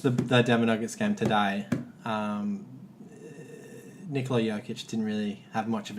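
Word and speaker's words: Nikola Jokić: No, it's Nikola Jokic.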